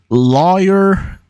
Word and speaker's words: lawyer: syllable of lawyer um lawyer that sounds weird to me it rhymes with boy the road parallel to